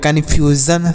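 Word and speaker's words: confusion: television नहीं पढ़ना है मतलब यस का जो उच्चारण होता है वह स होता है लेकिन यहां पर ज के रूप में हो रहा है मतलब एस आईओ एन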